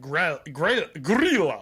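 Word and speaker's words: Grýla: I want to specify you are not saying gorilla no gorilla yeah yeah like gorilla not like Donkey Kong spell it gorilla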